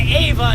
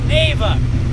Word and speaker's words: Nava: It's not Ava, it's Nava.